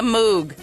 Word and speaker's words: Moog: congratulations on consigning the Moog okay how you pronounce it moo okay thank you all